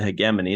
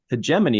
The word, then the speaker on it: hegemony: sector the European hegemony they pronounce it hegemony that's the British way hemman is the American way is a loose Alliance